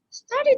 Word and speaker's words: started: Started is easy, right? It's pronounced with id. Id.